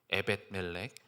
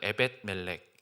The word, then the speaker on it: 에벳멜렉: 에벳 멜렉. 한번 따라해 볼까요? 에벳 멜렉. 이름이 좀 생소하고 발음도 좀 어렵죠, 그렇죠?